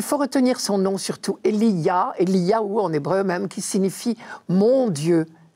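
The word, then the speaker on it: אליהו: Il faut retenir son nom surtout, Eliyahu en hébreu même, qui signifie « mon Dieu ».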